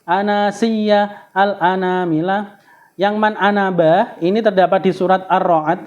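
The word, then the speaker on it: أنا: Eh pada lafal Ana tulisan di dalam al-qur'an itu Ana nanya ada alifnya itu dibaca pendek meskipun ee tulisan nya panjang ya ada huruf ee ada tanda sukun kecil di atasnya jadi bacanya harus pendek Ana kecuali empat ya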